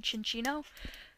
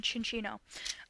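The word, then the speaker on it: Cinccino: I have to okay it is pronounced chin Chino yes okay um he has a crush on chin Chino uh next up is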